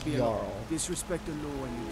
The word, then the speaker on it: Jarl: So, I've also been pronouncing this guy's name wrong. It's Jarl.